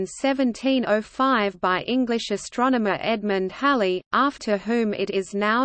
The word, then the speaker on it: Halley: Colin Ronan, one of Edmund Halley's biographers, preferred Hawley, similar to Holly.